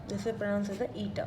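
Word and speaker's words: η: Basically, this is pronounced as a eta.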